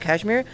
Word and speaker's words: Kashmir: Hi, it's actually pronounced Kashmir.